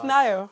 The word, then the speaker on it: Nayo: You know, you are free to pronounce it as Nayo. Okay, it's Nayo.